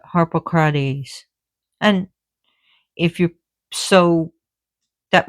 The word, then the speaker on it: Harpocrates: Harpocrates, or they call Harpocrats here, but Harpocrates.